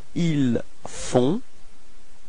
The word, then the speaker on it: ils font: Ils font. Okay, so you've got this nasal on, on. Okay, and then the final T is not pronounced. So ils font.